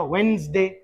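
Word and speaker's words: Wednesday: ट्यूसडे बुध बुधवार वेडनेसडे और वेडनेसडे डी आप साइलेंट करें वेडनेसडे डी ई ये दोनों हटा के जैसे बोला जाएगा वेडनेसडे Thursday Friday Saturday Sunday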